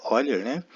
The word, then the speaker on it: Euler: 18 o matemático suíço Leonard Euler se pronuncia olher concebeu a ideia de